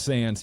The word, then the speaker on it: Sandys: was legitimate it's like why does he have this why in his name and it's pronounced sand yeah that's what I